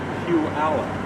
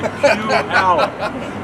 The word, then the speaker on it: Puyallup: It's Puyallup. I always say it wrong. That's okay. Puyallup.